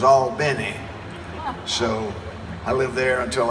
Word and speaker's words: Albany: And when we got down there, we found out the pronunciation was Albany.